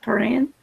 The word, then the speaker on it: Perrin: Perrin. Hiya, Troy. Pull a deep back real quick. I think it's Perrin, and it rhymes with Sharon. Perrin and Sharon, with a little bit of Baron.